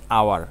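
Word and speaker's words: hour: উচ্চারণ করেছি করিনি তাহলে যেখানে এইচ টা সাইলেন্ট থাকবে সেইখানে এইচ এর উচ্চারণ নেই এখানে এটা হচ্ছে আওয়ার এজন্য এখানে ভাওয়েলের উচ্চারণ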